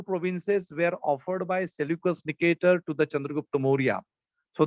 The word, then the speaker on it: Seleucus Nicator: ज्यांना pronunciation लक्षात येत नसेल त्यांनी लक्षात ठेवायचं, Seleucus Nicator.